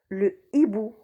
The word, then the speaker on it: hibou: on dit la hache et bout on dit le hibou handicap on dit le handicap haricots ont dit